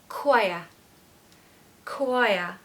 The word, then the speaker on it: choir: need this word uh just think of the word quiet so everybody can say that right quiet quiet now just take away the tea so choir choir you can do it I know you can just say quiet take away the tea you have the word perfectly quiet I used to